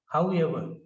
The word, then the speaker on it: however: However, however, ever, however, r is not pronounced.